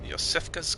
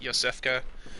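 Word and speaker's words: Iosefka: found yourself a hunter yosef cos clinic and it begin to the eye but her name is actually pronounced Yosef qey you find that out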